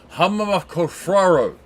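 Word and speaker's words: Hrafngrímr: Their name most people can't pronounce, but the pronunciation is Hammerkorfraro, which their song Sexatar is the song I'm going to be playing.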